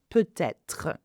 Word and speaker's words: peut-être: And you can do the liaison, peut-être. Again, T is pronounced because être begins with a vowel.